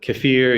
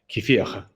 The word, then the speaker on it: kefir: I pronounce it kefir, you pronounce it kefir, but apparently the original Turkish way of pronouncing it is like kefir.